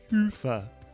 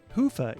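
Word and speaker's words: Hyvä: Commerce is sponsored by hia or as the Europeans say Hua or the right way to say it hufa is rapidly becoming the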